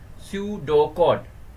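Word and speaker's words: pseudocode: कहीं सर्किट में प्रॉब्लम हो ए सूडो कोड pronounce as सूडो कोड is another way of representing algorithm means algorithm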